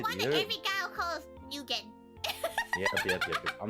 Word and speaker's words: Nguyen: Because like how like the Vietnamese last name Nguye and it's pronounced Win, Inga.